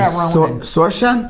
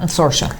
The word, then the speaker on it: Saoirse: Saoirse? Saoirse.